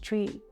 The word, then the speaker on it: chui: with the kidney and it's written as c-h-u-i pronounced tree but we will say it in a breathy